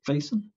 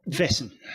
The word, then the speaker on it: Vaesen: i always play with the wording of the pronunciation of weissen faison uh vessen vessel thank you yes uh on the mythic